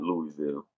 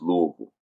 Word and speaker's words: Louisville: Um, Next one is going to be Louisville and Kentucky. I think it's Louisville and Kentucky. Now, and let me correct myself. It's not Louisville. It's Louisville.